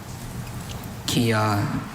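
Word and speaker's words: kyah: Kia.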